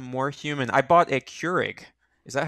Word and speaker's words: Keurig: i have become more human i bought a keurig is that how it's pronounced yeah so i could make tea and